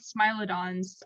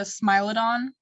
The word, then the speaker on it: Smilodon: Fun fact about Smilodons, saber-toothed tigers, is that their teeth, scientists have